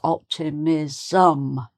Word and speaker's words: optimism: point to make that you need an extra syllable at the end. So, for example, if we say the word "optimism", it's "optimism", so there's an "um", you have to put an extra little vowel sound in to get the "um".